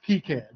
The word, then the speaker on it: KiCad: I can state the correct way because I looked up a video by the project manager of the project, and he pronounced KiCad.